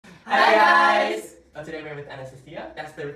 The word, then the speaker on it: Anastasiya: Today we're with Anastasiya. That's the correct way to pronounce her name, just so you know.